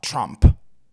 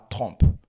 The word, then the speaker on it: Trump: Déjà en anglais, on dira Trump, pas Trump. Mais bon.